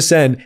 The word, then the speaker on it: Seine: of their health swim through, it's the River Seine, right? Yeah. Am I pronouncing that right, Sanjana? Yeah. Swim through the Seine and one of them got a coli is fucking bananas.